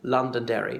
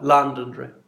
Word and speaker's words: Londonderry: They would overemphasise the London, and the Derry word would be scarcely audible, say it like Londonderry.